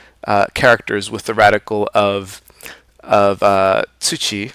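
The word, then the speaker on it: 土: So here we have the character for earth, chi, and its radical is the left hand component, which is right here, soil, pronounced tsuchi, and the radical of a radical is itself.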